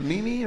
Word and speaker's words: meme: A meme or A meme. Meme. spell it?